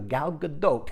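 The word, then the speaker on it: Gal Gadot: gal GDOT on my arm that's how it's pronounced too galgadot it's going to be tough on Angel and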